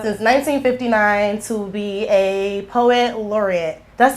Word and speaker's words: Poet Laureate: Since 1959 to be a Poet Laureate.